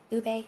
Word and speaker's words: ube: Saying it right, ube? Is that the correct way? Ube and Millennial Yeah, Mom, ube.